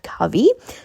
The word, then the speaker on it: Kavi: All right, so apparently her name is not pronounced Kavi, it is pronounced Kavi.